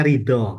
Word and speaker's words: Rida: Nama saya tertulisnya Rida, gitu ya. Ya, Rida. Itu bacanya Rido, gitu.